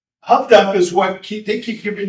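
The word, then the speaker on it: Huff-Duff: This is pronounced tough duff by the Brits. High frequency direction finding. Who's seen Greyhound with Tom Hanks? Who sees everything Tom Hanks does? Yeah. Okay. All right. Huff duff is what they keep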